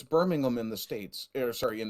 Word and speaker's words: Birmingham: Well, it's Birmingham in the States. Sorry, in the UK, it's Birmingham in the States. Yeah. It's just, we never pronounce the H.